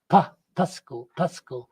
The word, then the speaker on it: pashku: Okay, so this one, Pashku, do not have vowel after S. So in that case, the stress is at the first syllable. Pasco.